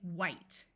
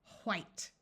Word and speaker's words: white: from we would say white the color W with no h sound in some parts of the country it would sound more like white where you can hear